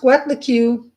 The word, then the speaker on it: Coatlicue: It's pronounced Coatlicue or serpent skirt.